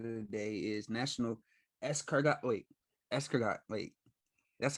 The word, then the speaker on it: escargot: Escargot. That's how you pronounce.